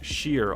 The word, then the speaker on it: shire: Shire is always pronounced sheer all over the UK apart from Scotland who pronounces it legit.